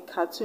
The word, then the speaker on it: cartoon: teaspoon this was ending so we're gonna stress on the last level in cartoon you're going to stress tune in afternoon you're going to stress noon and teaspoon you're going to stress spoon that's the last level